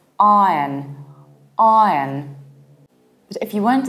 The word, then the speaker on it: Iron: Saying ion will still make you sound foreign. You need to reduce the ending. It's iron, not yon, but yin. Iron. And if you want to sound even more British, you need to open your mouth very wide. It's iron, iron. It sounds exactly like the iron in chemistry.